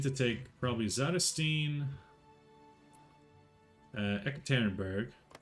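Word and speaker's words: Yekaterinburg: take probably xanastine uh ekit tannenberg is the proper way to say it because it's named after Catherine the Great Catholic but I always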